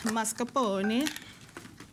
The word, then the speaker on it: mascarpone: Then we're going to add mascarpone. It's like a pony with a mask on it. It's a masked pony.